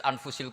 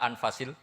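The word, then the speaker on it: أنفس: anut bacaan saya di ini ditulis anfusil kutub kalau saya baca anfasil kutub karena maknanya kitab ter baik Kalau kitab terbaik bacanya bukan anfus tapi apa anfas ya nanti kamu debat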